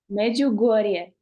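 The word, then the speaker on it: Međugorje: One of my friends was she wanted to go to Medjugorje. Is that how you pronounce it? Medjugorje? Yeah, She Medjugorje. was her big desire. How do you say it? Medjugorje.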